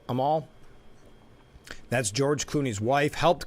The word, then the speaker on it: Amal: So Amal Clooney, I think that's how you pronounce it, Amal.